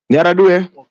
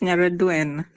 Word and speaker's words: Nyaraduen: Nyaradue. Peter, it's Nyaraduen. Please pronounce that last N.